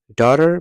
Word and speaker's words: daughter: daughter معنا لور. تاسو دلته وینئ چې دا GH نه تلفظیږي.